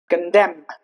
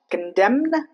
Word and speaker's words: condemn: Not damn. Damn. Condemn. Not condemned. Condemn.